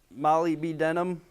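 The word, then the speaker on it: molybdenum: right mineral Metals ow malignum if you can't remember how to say it say it like I used to say it Mali B denim a woman named Molly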